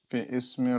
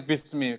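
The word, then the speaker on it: بِسْمِ: Bi ismi rabbika. Kenapa bacanya bismi? Kenapa bukan bi ismi, Saudara? Alifnya bukan apa alif apa namanya? Hamzah wasol. Berarti peristiwa namanya apa peristiwanya?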